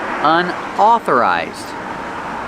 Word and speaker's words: unauthorized: Pronunciation unauthorized. Au makes the a sound like ball and call.